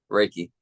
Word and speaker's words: Reiki: no not your name is it recky or raiki like how do you say that oh I see raiki raiki okay yes make sure we